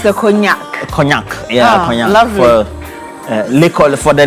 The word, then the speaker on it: cognac: bottle of champagne, bottle of premium whiskey or cognac. Those who tend to love a lot of Hennessy, you know, Kim Paluta has a song which has a lyrics. I like Hennessy. how you pronounce the cognac.